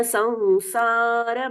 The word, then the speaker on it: संसार: जन्म संसार बंधनात्, जन्म संसार बंधनात्। र का पूर्ण उच्चारण हो रहा है।